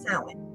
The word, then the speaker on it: Samhain: The witch's New Year's, Samhain, which people pronounce Samhain. That's wrong. So when the New Year's, the witch's New Year's is Samhain.